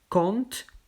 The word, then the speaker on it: compte: ici c'est ont donc son bonbon mon club compte cent le p se prononcent pas compote il ya évidemment les exceptions